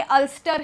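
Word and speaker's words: Ulster: जाती है, तो इसीलिए जब उसको अल्सर बोला जा सकता है तो ये अल्स्टर ही प्रोनाउंस किया जाएगा।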